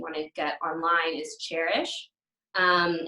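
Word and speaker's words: Chairish: to get online is cherish and it spelled like a chair CH AI R I SH so cherish is a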